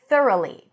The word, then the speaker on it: thoroughly: So here the tricky part is the th and the r.